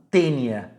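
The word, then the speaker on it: Taenia: A teníase, ela tem como agente etiológico, causador da doença, um verme plateuminto chamado tênia. Se escreve assim, ó, taínia. Tênia sp.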